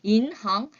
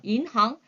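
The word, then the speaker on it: 银行: 이거 무슨 과목 자이 발음할 때 여러분들 첫 번째 단어에 끝에 모음이 n으로 끝나고요 두 번째 글자 시작하는 잠이 h나 혹은 y로 시작이 될 때에요 발음을 한국 사람들이 굉장히 뭉개게 그죠 뭉개서 발음을 하세요 왜냐면 우리 한국의 두음법칙이 있어서 그런지 조금 만약에 은행 할 때는 이렇게 얘기하세요 이항같이 들리는데 인항 끊어 살짝 끊는다 혓바닥으로 살짝 눌러준다라고 생각하시면 돼요 인항 인항 인류의 이렇게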